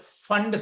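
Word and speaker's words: Pfund: And last is P is silent. This is called fund series. Fund series.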